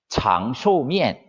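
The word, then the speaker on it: 长寿面: 중국 발음으로는 장쇼면, 장쇼면이라고 하는데 우리 발음으로는 장수면이죠.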